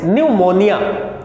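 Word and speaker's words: pneumonia: बीमार लोगों का इलाज करते हैं नेक्स्ट डे न्यूमोनिया या व्यक्ति साइलेंट न्यूमोनिया का मतलब होता है इससे सर्दी-जुखाम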